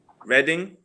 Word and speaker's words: Reading: here she's my city what do you say reading yes yeah that's like like you i mean of course it looks also like reading but most of the time like if you